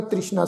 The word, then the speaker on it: तृष्णा: तृष्णा शब्द इसनू उच्चारण करांगे, तृष्णा ससे पैर बिंदी लगा के, बहुर न तृष्णा लागे आए, मारे राखे एको आप।